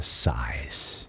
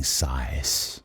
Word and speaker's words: sighs: Olha a pronúncia, sighs. Você nem fala esse G ou H. O S sim, sighs.